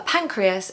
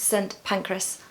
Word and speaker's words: Pancras: for a long time I was pronouncing it like this and no one was correcting me. So I worked out that it's actually pancreas. So King's Cross St Pancras.